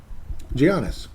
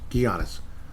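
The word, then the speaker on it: Giannis: anono mate you got to you've got to pronounce his first name properly before attempting his last name gianis gianis gianis gianis I did it right didn't I gianis ant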